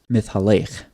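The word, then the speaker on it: מתהלך: You see walking here in Genesis 3:8 in the English, and then this is over here in the Hebrew, and it's pronounced mithalech.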